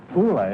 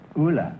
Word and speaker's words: Ulla: Ulla, is that right? Is that how you pronounce it? No, my name is Ulla. Ulla, huh?